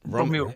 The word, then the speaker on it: Romy: Chris, is it Romy?